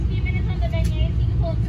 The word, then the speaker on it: beignets: How do you pronounce it? They're beignets.